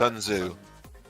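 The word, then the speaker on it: Sun Tzu: Sunzu. Yeah, the T is silent.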